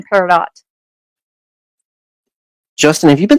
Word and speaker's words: peridot: my gosh yes dear you do pronounce the t in peridot justin have you been